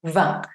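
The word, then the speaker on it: vingt: Lo mismo, cuando decimos el número 20 solo, decimos 20, no decimos 20 con la T, 20.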